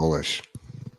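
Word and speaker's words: Golesh: But South Florida at their media day, their coach Alex Golish, is it pronounced goalish. like that? Yeah, goalish.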